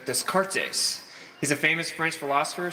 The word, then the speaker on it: Descartes: count D how to really say his name Descartes he's a famous French philosopher scientist and mathematician